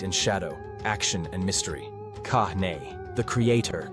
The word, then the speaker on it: Kāne: Kahn, the creator, Kahn, pronounced Kahn, is the eldest and most powerful of the four major Hawaiian gods.